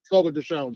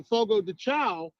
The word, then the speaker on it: Fogo de Chão: pronounced Fogo de Chão.